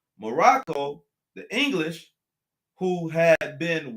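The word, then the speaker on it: Maroc: kept the a's right they call it morocc okay this is the this is the french now the french spell morocco morocc they spell it m-a-r-o-c okay and the germans called it more rock co spelling m-a-r-o-k-k-o okay that's how the germans spelt morocco all right but the english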